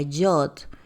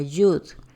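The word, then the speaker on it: יוד: o tetragramatón, que es en antiguo hebreo se pronuncia Yod y en el moderno se pronuncia Yud.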